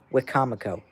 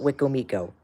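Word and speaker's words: Wicomico: And going to the Eastern Shore in Wakefield's area, you don't say Wikcomo County like WXK97. It's Wikamico County. That's how it's said. Wikcomamo, not Wik Miko. Wikcomamo. That's how it is said.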